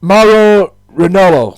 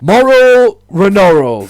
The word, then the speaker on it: Mauro Ranallo: There, Mauro Ranallo. I hope I pronounced that right. Former Combat Sport announcer Mauro Ranallo, that's the pronunciation of that.